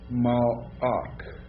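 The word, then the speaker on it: מלאך: Mal'ak. Alright, now that's a silent shaval. Why? Because patak is short, and after a short vowel, shaval is silent.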